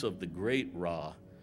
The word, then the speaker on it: Ra: And the circle is the great consciousness of Ra, and we are all rays of the great Ra. They used to pronounce it Ray, but we all pronounce it Ra.